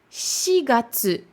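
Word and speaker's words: 四月: Là, on avait dit yonhyaku, mais là, par contre, ce sera shigatsu.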